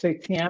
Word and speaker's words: seitan: seitan, is that how you say it? Seitan?